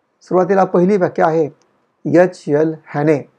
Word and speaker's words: Haney: हॅने, HANEY असं ते हॅनेचं spelling आहे. हॅने म्हणतात किंवा हॅने असंही म्हणता येईल, आपल्याला उच्चार करता येईल.